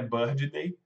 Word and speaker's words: birthday: Não é D, não é birthday, ou como quase 90% dos brasileiros falam que é birthday. Birthday é dia do pássaro, né? Bird Day, que o D não pronuncia, junto então fica birthday.